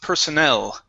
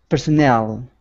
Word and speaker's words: personnel: couple of words here this word is pronounced personnel personnel okay with that stress on the end we have immigration officials